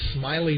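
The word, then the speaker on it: Smaily: Batting seventh is the left fielder, number 16, Smiley Borges. His first name is spelled S-M-A-I-L-Y. The A is silent.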